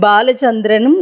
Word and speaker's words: பாலசந்திரன்: மாதிரி ஸ்பெல்லிங் போடுகிற மாதிரி பாலசந்திரனும் இல்லை பாலசந்திரன் அதாவது பாவையே அழுத்தி சமஸ்கிருதத்தில் இரண்டாவது பாவாக முதல் எழுத்தைச் சொல்ல வேண்டும் அதுதான் சரியான பெயர் பாலம் என்றால்